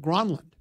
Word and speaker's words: Granlund: He went and asked him what it was, and he goes, well, no, it's actually pronounced Granlund.